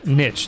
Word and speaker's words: niche: yeah but it's both you can say both they're both correct i don't get this why do y'all just say some weird that's not a long island thing that's an american niche is american and niche is european well yeah i'm european